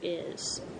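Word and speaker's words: hay: is h a y remember the H is silent I I we had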